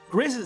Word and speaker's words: Griss: Interestingly enough though, his Japanese name is pronounced the way it’s pronounced in French, gris, while we while in the West say it incorrectly really.